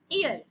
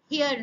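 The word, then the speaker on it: heir: একজন উত্তরাধিকারী অ্যান ইয়ার, এখানে কিন্তু উচ্চারণ হিয়ার নয়।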